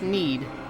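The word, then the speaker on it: knead: __ ] hard oh was saying it's pronounced need but need you you yeah but doesn't it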